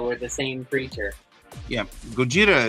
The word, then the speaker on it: Gojira: the same creature yeah Gojira is the Japanese pronunciation of it Godzilla is the best they can make out of it foreign monsters that